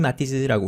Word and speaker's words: Matisse: 근데 이 사람이 프랑스 사람이기 때문에 프랑스에서는 H가 발음이 되지 않기 때문에 헨리라고 발음하지 않고 앙리 정도로 발음합니다. 그래서 앙리 마티즈라고 우리가 보통 부르죠.